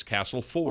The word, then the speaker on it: Castleford: is pronounced around here it is one of those local dialects it is castle four well same with massachusetts